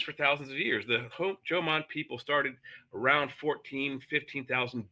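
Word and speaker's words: Jomon: the the ancient Hman Jan people and it's pronounced Joman J O M O N just like the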